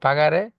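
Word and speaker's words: pagare: যেমন এখানে পাগারে জিটা গ এর উচ্চারণ হইছে।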